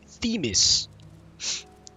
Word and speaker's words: Themis: literal wa what sorry about that oh Themis rhymes with the beis ah apologies for not introducing